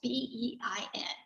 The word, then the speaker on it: beIN: B-E-I-N Sports. What is that? Well, Bein Sports. I can't say it right. It's called B. You could say Be in or Bein Sport. I think that's how I say it.